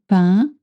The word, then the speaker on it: pain: En français, in French, when you see the cluster AIN, like in saint, you make the sound un, pain, saint, un.